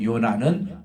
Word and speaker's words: 요나: 그리고 요한이라는 그 이름, 이것은 헬라 말이지만 본래 그 아람어 발음은 요나입니다. 요나. 그래서 이 베드로를 바요나라 그러는데 바도 아람어예요. 아람어로 아들이란 뜻입니다. 바. 그리고 요나는 요나의 아들.